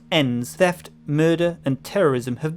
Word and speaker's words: EINS: Hong Kong in the year 2048, in the wake of a degenerative global pandemic, topical, called EINS, environmentally induced neurotides degenerative syndrome, pronounced ENS, theft, murder and terrorism have become big business.